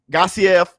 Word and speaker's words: Usyk: when he was um gossip that's how you say his name when he was fighting